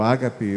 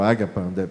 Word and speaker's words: ágape: É o amor ágape ou ágapa, como queria pronunciar.